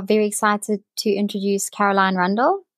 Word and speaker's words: Rundle: excited to introduce Caroline Rundle I hope that's how I say your surname Caroline that is how you say it Caroline randelle randelle randelle okay um